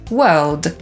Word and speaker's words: world: i sprawa załatwiona, więc po brytyjsku „świat” to „world” /wɜːld/. Z kolei Amerykanie wypowiadają „świat” jako /wɜ:rld/ i słyszymy to czasami